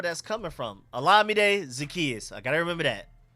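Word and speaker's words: Zaccheaus: on that I I forgot his name is pronounced alade zakus I keep saying Olam is alade make sure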